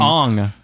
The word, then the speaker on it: Aang: Instead of Aang, it was Ung. Ong.